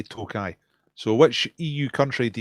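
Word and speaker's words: Tokaji: I believe it's pronounced Tokai. It looks like Tokay, but I think you say Tokai.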